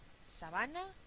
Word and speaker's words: sabana: Aquí, sabana y sábana. Sabana es una palabra llana, vean que no tiene tilde, termina en vocal, entonces es llana.